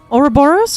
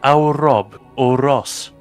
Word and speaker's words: Ouroboros: Hang on, how did you pronounce the second one? Ouroboros crates? Isn't it Aurob or Ross? No, it's not.